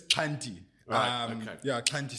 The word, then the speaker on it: Xhanti: correct pronunciation sure it's Cy um yeah Cy so I always say to people it's like or at least for me it's a click on the left side of your mouth Cy yeah I'm going to